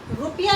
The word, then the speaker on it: ऋ: ऋषि का है ना, बहुत सारे लोग र बोलते हैं, वो र है ही नहीं है। हम उसको वर्ण के साथ लगाएंगे तो भी हमारा जो उच्चारण है ना वो री होना चाहिए।